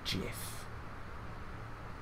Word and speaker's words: GIF: Nick don't do the jiff gif don't please don't I ask you kindly Nick got to stop this because even though I think it should be gif like a hard G because it stands for